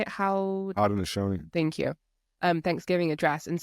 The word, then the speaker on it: Haudenosaunee: Haudenosaunee.